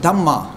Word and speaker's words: dhamma: The Buddhists pronounce it dhamma, but same dharma.